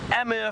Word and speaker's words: Amur: We do get Amur falcons, or they used to be known as eastern red-footed kestrels.